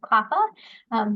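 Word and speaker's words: CLPHA: I'm the Director of Cross-Sector Initiatives here at CLAFA. That's how we pronounce that acronym.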